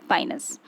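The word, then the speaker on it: Pinus: और दूसरा एक कॉमन एग्जाम्पल है पाइनस। इसमें आप देखेंगे या पिनस भी इसका प्रोनाउंसिएशन है।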